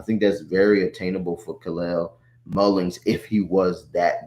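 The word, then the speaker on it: Kal-El: Um, but Kalel, which I like to say his name is Superman Way Kalel.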